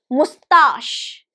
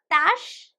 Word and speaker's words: mustache: So it has only 2 syllables and the stress is on the second one. Mustache. Mustache. Right? So mustache. Normally, generally, when we have just 2 syllables in a word, the first one is stressed. That is a generalized or standardized rule. But in this particular word, we are stressing the second one. That's why it is mispronounced, because people are not aware of this particular thing.